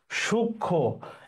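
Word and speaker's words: সূক্ষ্ম: সমীর শব্দের অর্থ বাতাস সূক্ষ শব্দের উচ্চারণ সূক্ষ এটা উচ্চারণ হচ্ছে সু তাইলে সু লিখলাম আর খিয় মানে ক সু সূক্ষ খে চা উচ্চারণ হচ্ছে এরকম আর এই যে ম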